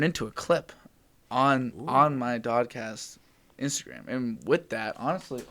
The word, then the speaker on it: DOD-Cast: And it's just DOD-Cast rhymes with podcast, so it made sense.